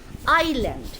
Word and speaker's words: island: ঠিক আছে, আচ্ছা, আইল্যান্ড, আমি এক্ষুনি বললাম ISLAND, এসের উচ্চারণটা সাইলেন্ট। আইল্যান্ড, আইল্যান্ড, দ্বীপ।